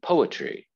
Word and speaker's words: poetry: Poetry. Poetry. Poetry. Poetry. Little apostrophe before, right? After, excuse me, the first syllable. Poetry. Okay.